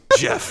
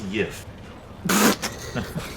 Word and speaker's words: Jeff: Jeff. No, it is not pronounced Yif.